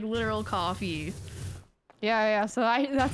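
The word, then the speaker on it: Ko-fi: fi I always I I know it's supposed to be said like coffee I say Kofi oh I just say Kofi Kofi Kishi Kofi yeah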